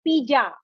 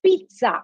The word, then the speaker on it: pizza: it a lot of us say pizza a lot of us say pija but we must really say pizza it's pizza it's an italian word it is not even an english word so do remember one